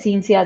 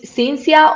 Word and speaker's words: Cinzia: Ella es Cinzia desde Italia.